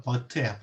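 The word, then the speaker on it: Wirth: 저도 모르고 한동안 월스라고 발음했는데 뭐라고 발음해야 되냐면 버트예요. 버트. 니클라우스 버트예요. 독일어 보면 왜 W를 V로 발음하는 경우 있잖아요.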